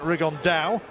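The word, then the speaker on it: Rigondeaux: about fighting rigondo or as he's correctly pronounced with the uh spanish accent rig on dao and look two absolute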